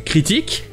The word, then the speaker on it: critique: Alors que cette personne, elle écrira une critique, mais ça sera la deuxième syllabe qui sera accentuée.